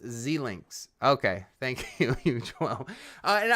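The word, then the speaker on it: Xilinx: It's pronounced Zlinks.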